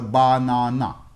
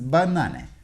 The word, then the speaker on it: banana: have three vowel sounds but the first and third syllables are unstressed and the middle syllable is stressed the vowel is the